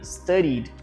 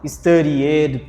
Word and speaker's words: studied: To play, played. To study, studied. Não, studied. Play it. Esquece esse e. se ele fica mudo na nossa pronúncia aqui.